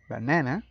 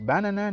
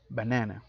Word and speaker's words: banana: And the last column, it's about three syllable words, and the emphasis is on the second syllable, la del medio. This word is pronounced as banana, no es banana ni banana, but banana.